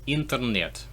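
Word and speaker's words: интернет: Okay, this is internet. Exactly the same.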